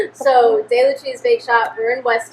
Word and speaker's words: DeLucia: So it is said DeLucia. It's Italian. It's not Spanish. It's not. So DeLucia's Bake Shop.